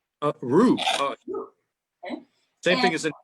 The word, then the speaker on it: roux: Also, R-O-U-X. I'm not sure how you pronounce that. Roux? Roux.